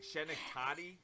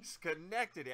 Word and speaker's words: Schenectady: Now, just as a brief background, she was born in, wow, that's a name here, Schenectady, New York. Is that how you pronounce it? Schenectady.